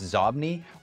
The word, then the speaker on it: Xobni: XOBNI, pronounced Zobni, was a San Francisco-based company that made software applications, including products for Microsoft Outlook and mobile devices.